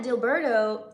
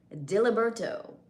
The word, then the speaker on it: Diliberto: I kind of abbreviated it and turned it into Dilbert as your nickname. However, it is actually pronounced as Diliberto.